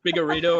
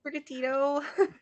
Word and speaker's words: Sprigatito: Spigarito or whatever his name is. Yes, Sprigatito. It's so Sprigatito. cute. What's his name? Sprigatito, I think. Yeah, is how you say it.